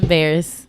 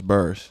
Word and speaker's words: Barris: Ain't it Barris? The Bears. Bears? Oh, my bad. I thought it was Burrs. Bears.